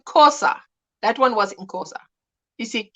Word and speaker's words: Xhosa: That one was in Xhosa. You see, Xhosa is how you say it, but we just, if you don't want to do the click, you just, the XH becomes a K.